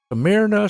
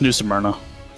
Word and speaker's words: New Smyrna: always mispronounce this right amirna smyrna how you pronounce it uh it's new smyrna oh there you go